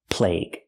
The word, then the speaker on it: plague: And this word is pronounced plague. We say the use the article the the plague. Use the long a sound like day and say plague. Plague. And the u is silent. The plague.